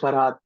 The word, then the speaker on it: Farhad: By the way, Ankit, his name is pronounced Farhad. Farad. No, no, no. It's Farhat actually. Farad. Okay. Oh, it's Farhad.